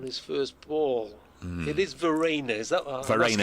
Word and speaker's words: Verreynne: It is Verena, is that what I'm Verena. asking you for Verena, pronunciation guide now? as in Claire Rayner or Ollie Rayner. Right, okay. Verena.